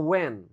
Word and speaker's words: when: Lalu "when," yang berarti "kapan." Kapan? Jadi, huruf 'h' tidak dibaca. Pengucapannya adalah "when."